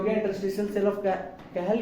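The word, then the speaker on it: Cajal: आईटी सो इट इज कहल्स interest इंटरस्टिशल cell of कहेल इंटरस्टिशल cell of कहेल okay spelling होता है सीए जेएल ठीक है सीए जेएल इज the spelling लेकिन पढ़ते हैं कहल सो इंटरस्टिशल सेल ऑफ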